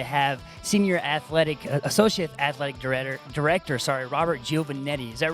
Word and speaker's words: Giovannetti: very excited to have Associate Athletic Director, Robert Giovannetti. Is that right? Hey, you pronounced it correctly.